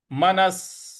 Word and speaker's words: मनः: मनस, मनस संयम्य, मन विसर्ग लगा हुआ है यहाँ पे, स का ही उच्चारण हमें लाना है।